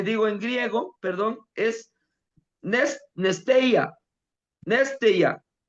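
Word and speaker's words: νηστεία: La palabra para ayuno e la palabra en hebreo eh digo en griego, perdón, es Nesteia. Neste, nestea, así se pronuncia, néya.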